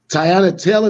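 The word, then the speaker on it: Teyana Taylor: what's what's the what's her name man uh tyanna taylor that's how you pronounce her name okay yeah no disrespect to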